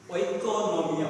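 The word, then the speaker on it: οἰκονομία: Now, economics is derived from the Greek word, which is oikonomia. We can pronounce it how it is.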